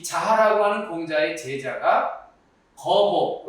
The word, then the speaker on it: 莒父: 이 자하라고 하는 공자의 제자가 거보, 여기서 이제 아비부자지만 지명으로 읽을 땐 보라고 읽어야 됩니다.